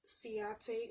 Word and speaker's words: Ciaté: This is by, I believe it's pronounced Ciaté London.